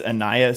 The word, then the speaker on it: Ainias: How do you pronounce the first name of? It is Ainias Smith.